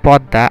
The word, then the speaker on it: পদ্মা: দুই, শব্দের মধ্য বা অন্তে ম ফলা সংযুক্ত বর্ণটি দ্বিত্ব উচ্চারণ হয়, তবে ম যেহেতু অনুনাসিক্য ধ্বনি তাই দ্বিত্ব উচ্চারণ শেষ ধ্বনিটা সামান্য নাসিক্য হয়, যেমন সদ্য, পদ্য, পদ্মা, আত্মা, আত্মীয়, মহাত্মা, বিস্ময়, বিস্মিত, ভস্ম, রশ্মি, কোষ্মিঙ্কাল ইত্যাদি।